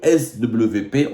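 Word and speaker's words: SWP: et de sécurité le S WP en allemand le W se prononce V le svp le institut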